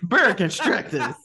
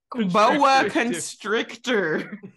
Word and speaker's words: boa constrictor: Bear constructors. Construction snakes. Constructors. They finding asbestos in the ceiling. Wait. How do you say it correctly? Boa constrictor.